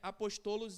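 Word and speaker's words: ἀπόστολος: português é Apóstolos porque no grego nós não temos sílabas tônicas igual o português então Apóstolo em português é apostolos em grego Amém que quer dizer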